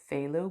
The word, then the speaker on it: phthalo: fun with it so i know it's phthalo blue but that is just it's it's just demanding me to misbehave and go play low blue i'm not sure